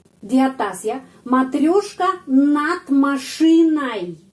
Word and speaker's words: машиной: Матрешка над машиной. Kita menulis ой, tapi bacanya ai. Над машиной. Kenapa ai? Karena penekanannya berada pada huruf i.